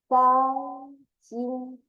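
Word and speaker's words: 钢筋: The gang would be like a girl plus A and G on. So first tone gang, gang. Jin will be like G plus inside or outside, but first tone. In, Jin, Gang, Jin, Gang, Jin.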